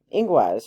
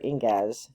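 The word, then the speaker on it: Ingwaz: um but the um inguas or ingaz depending on which pronunciation you're using this is a really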